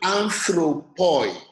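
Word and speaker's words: ἄνθρωποι: The first Greek word there will be pronounced anthropoi. You see that oi is the last diphthong of that word. But because it is the last diphthong, it is going to be short.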